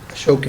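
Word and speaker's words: Ashokan: Ashoken.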